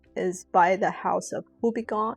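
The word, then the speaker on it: Houbigant: by the house of Hubiggon. I think you don't pronounce the the T at the end.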